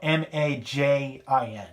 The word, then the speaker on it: Majin: I'm going to pronounce this Time Majin with the katakana spelling. You know, Majin.